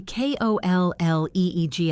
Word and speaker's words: colleague: My KOLLEEG at work off and talks about how interesting it is that the pronunciation of English is so chaotic.